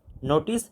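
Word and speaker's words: note: নোটিস হাউ the letter O is pronounced in words in list one and list two.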